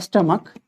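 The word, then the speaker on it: stomach: है ठीक है च का उच्चारण क्या हो रहा है यहां पे के हो रहा है तीसरा और क्या हो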